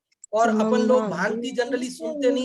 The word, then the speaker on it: भांति: समम भांति है, वो भ्रांति आपने बोला। दरअसल वो भ्रांति नहीं है, उसमें आधा र नहीं है, वो भांति है। भांति मतलब सुशोभित होते हैं। और अपन लोग भांति जनरली सुनते नहीं है,